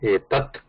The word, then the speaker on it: etad: If you take etad, if it is just standing like that, etad, we can also pronounce it as etat or etad.